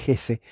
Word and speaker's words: Hesse: Hesse, la J es H, en inglés la H es J, se pronuncia Hesse.